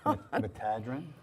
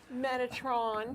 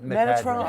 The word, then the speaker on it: Metatron: Metadrin? Metatron. Metatron, oh my goodness. Mostly known as Metatron, Tommy, Okay. but you do pronounce it differently Metadrin.